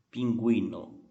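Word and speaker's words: pingüino: o som do o porém se esse g u vier s u vier com o trema quem espanhol se chama de eles aí sim esse o será pronunciado por exemplo pinguino pinguino pinguim no gente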